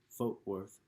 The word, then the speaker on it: Fort Worth: He wrote the brooding Fort Worth, which he pronounced Fote Worth, the rockabilly I Guess